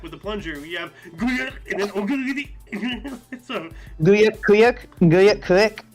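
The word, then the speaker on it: Güyük: So 1246, we have Guyuk or Kuyuk. Yeah, it's Kuyuk, but it's pronounced. It looks with a G. It but sounds anyway, like the noise a plunger makes.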